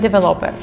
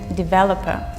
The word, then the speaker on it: developer: next two words are pronounced incorrect just because of the stress just put on the wrong syllables what I mean is support and developer the way people who mispronounce it is support and developer so please pay attention